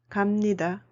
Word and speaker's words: 갑니다: khi phụ âm 'ㅂ' gặp 'ㄴ', 'ㅂ' được phát âm là 'ㅁ'. Vì vậy chúng ta nói '갑니다', '있습니다', '큽니다', '작습니다'.